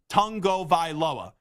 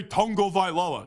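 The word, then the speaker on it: Tagovailoa: where someone asked him how do you correctly pronounce his name and he's like tongo vioa so I always get a kick whenever somebody is like why do you say tongo vioa because I'm like hey that's how you're supposed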